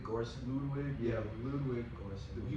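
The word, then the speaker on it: Göransson: Is it Grossum? Ludwig Grossum? Oh yeah, Ludwig Gorson.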